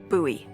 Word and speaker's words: Bowie: It's actually pronounced Bowie.